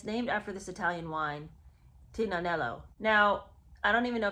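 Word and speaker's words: Tignanello: after this Italian wine Tina nello now I don't even know if that's the right pronunciation but I do know the g is silent in that word so the fact that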